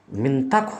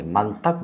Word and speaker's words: منطق: بھی واضح ہے کہ کچھ لوگ منطق کی تا کو مفتوح بولتے ہیں، یعنی منطق بولتے ہیں، یہ غلط ہے، اس واسطے کہ لفظ